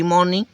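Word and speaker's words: morning: अप so early every मॉर्निंग ठीक है every मॉर्निंग य आर साइलेंट होता है फ्रेंड्स याद रखना मॉर्निंग एवरी मॉर्निंग ठीक है आर का जो साउंड है वो नहीं आता है याद रखना फ्रेंड्स हालांकि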